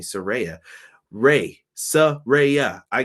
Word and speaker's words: Saraya: Britt Baker DMD versus Soraya or excuse me Saraya Rey so Ray yeah